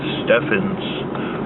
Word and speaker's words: Stephens: a lovely park called Lake Stevens although it pronounced to think Stephan's Who am I to argue with the Park